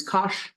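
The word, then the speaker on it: cosh: H to it so cosine becomes Kos sounds like gosh and this is e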